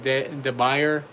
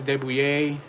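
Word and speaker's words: de Buyer: A lot of people pronounce it de Bayer, but it's Debouillet, Le Creuset.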